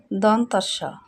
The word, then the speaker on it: দন্ত স: দন্ত স, তার মানে কি? এটা জিহ্বার আগাটা আমাদের দাঁতের সাথে লাগে, এটা হলো দন্ত বর্ণ।